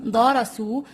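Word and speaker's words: درسوا: So we have the vowel waw with a silent alif at the end. Okay? So we do not say darasuwa, no.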